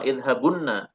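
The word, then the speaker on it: اذْهَبُنَّ: Jadi dua nun, nun pertamanya sukun, nun keduanya fathah. Kan bunyinya sama idzhabunna.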